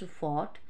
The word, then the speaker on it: fault: Fault means here pronounced fought, to rhyme with oct.